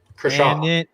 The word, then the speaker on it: Kershaw: Kershaw.